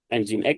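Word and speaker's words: nginx: masing-masing tu APT instal engine X ya bacanya bukan nging kalau masih Sudah semester akhir terus skripsi terus saya tanya wnya pakai apa nging ya diketawain nanti ya bacanya engine X terus setelahinstal engine X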